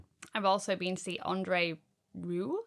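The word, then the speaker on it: André Rieu: H I've also been to see Andre Ru, I think his name is pronounced. Ah, not Rio.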